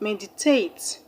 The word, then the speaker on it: meditate: The word meditate has 3 syllables. Meditate, meditate. So the first syllable, which is the third syllable from the end of the word, is what is going to be stressed.